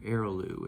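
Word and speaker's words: Eroglu: Erolu. E R O G- Lu. Eroloo is how you pronounce her name.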